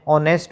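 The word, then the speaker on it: honest: राम इज एन ऑनेस्ट बॉय यहां पर H silent सा इसलिए एन लग गया।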